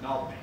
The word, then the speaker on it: New Albany: from 4 people from southeastern Michigan and from Nobney, Indiana, which is the correct pronunciation of New, what you think might be New Albany, or even horror of horrors, New Albany. It's just Nobney.